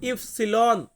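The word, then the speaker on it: ipsilon: এরপর এক্স এই এক্স কে আমরা ইতালিয়ান ভাষাতে উচ্চারণ করব এক্স ওয়াই ওয়াই কে আমরা ইতালিয়ান ভাষাতে বলবো ইফসিলন ইফসিলন মানে হচ্ছে ওয়াই জেড জেড কে আমরা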